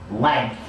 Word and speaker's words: length: Okay, I need to show you how to make that TH at the end.